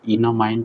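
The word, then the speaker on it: enamine: तो ये इमाइन किस में कन्वर्ट हो गया मालूम है, इन अमाइन में, जिसको इनामाइन प्रोनाउंस करते हैं बहुत लोग।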